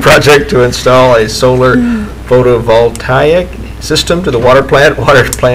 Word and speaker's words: photovoltaic: Ottawa Solar Photovoltaic Project. I'm sure glad you had that part to read. It's in yours. Oh no. Project to install a solar photovoltaic system to the water plant location, which will